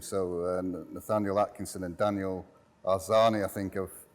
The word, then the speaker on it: Arzani: So Nathaniel Atkinson and Daniel Arzani, I think I've pronounced that correctly. Yes. Both broken through this season. How proud are you of? Very proud. These two players have been outstanding this year. Arzani is becoming really one of the most talked